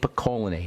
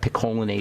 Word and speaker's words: picolinate: you always have zinc acetate zinc gluconate zinc picolinate or you'll have you'll have a selenium monomethionine